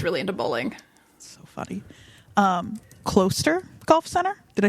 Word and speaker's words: Closter: Closter Golf Center?